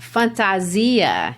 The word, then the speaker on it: fantasia: is to wear and the word is pronounced fantasia in portuguese that's their portuguese word